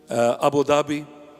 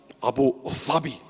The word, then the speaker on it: Abu Dhabi: Arab Emirates, Dubai, and Abu Dhabi. In Arabic, it's Abu Dhabi. Abu Dhabi. Not Abu Dhabi. That's the Arabic pronunciation, Dhabi.